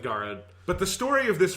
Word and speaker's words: Garrod: like it's a really it's a name that doesn't seem like it should be hard to pronounce but i just find saying it with a standard english pronunciation feels very weird so yeah so we're just going with garad but the story of